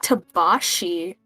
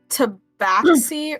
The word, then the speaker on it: tabaxi: right there well oh it's pronounced tabashi oh really it can either be pronounced tabaxi or tabashi i'm going to call